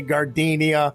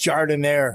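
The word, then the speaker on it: giardiniera: at me don't look all nervous and say gardenia it's pronounced jardin air trust it's the rock solid foundation of moran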